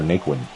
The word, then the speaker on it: Naquin: 1-1 the count now to Tyler Naquin.